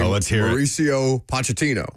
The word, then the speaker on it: Pochettino: So, you have, forgive me, Lucas, if I mispronounce the coach's name, Mauricio Pochettino.